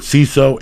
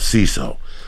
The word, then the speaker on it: Seeso: With CISO, it's your comedy.